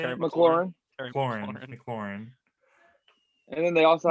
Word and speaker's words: McLaurin: decent wide receivers with Terry what's his name, McLaughlin, or how do you say it? McLaurin.